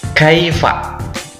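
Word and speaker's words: كيف: eh kosakata yang kedua Kaifa Oke bacanya Kiva Kiva coba Oke kita bareng-bareng Kaifa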